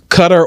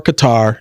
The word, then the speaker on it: Qatar: me the oddest controversy so cutter or Qatar depending upon what what you want to say you know Americans say it one way they say it another way in their in their region um they're known for